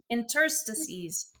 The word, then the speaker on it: interstice: Interstices.